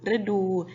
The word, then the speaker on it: ฤดู: ไทย คำ ที่ สอง ฤดู สะกด ว่า รึ อู ดู ฤดู จริง ๆ ต้อง แทน